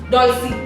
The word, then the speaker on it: Dolcee: Pankti Choksi and Chef Dolcee and not Dolcee. Alright, so and that's a pronunciation, guys. If you have been pronouncing it wrong, then Dolcee it is.